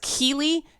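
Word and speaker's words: Keighley: guy Jeff I think his last names pronounced Keely Jeff Keeley decided to do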